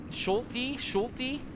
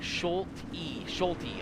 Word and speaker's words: Schulte: And Schulte? Quick thing, with my last name. Pronounce the E. Schulte.